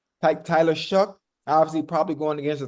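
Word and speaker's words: Shough: Tyler, how do you say pronounce his last name? Shook. Tyler Shook.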